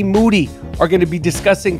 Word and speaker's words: Moody: Moody. Last name rhymes with duty.